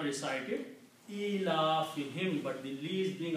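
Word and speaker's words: إِيلَافِهِمْ: Also when you recite in the tajweed, this dhamma is recited as kasra for easy pronunciation. So it's pronounced as him, not whom. Ilafihim.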